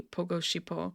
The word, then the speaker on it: 보고 싶어: The difficulty comes in how to pronounce the letters. So you saw, right, that it was written follow me, shipo. like this. And then he said it properly, pogo shipo.